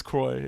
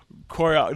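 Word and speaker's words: Croix: It is Croy. Yeah, but they did say I like say? Koriox. They pronounce the X, which is weird.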